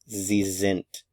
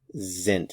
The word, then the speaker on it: sind: this video they are zint Z zent notice the pronunciation of the S is z zint notice also that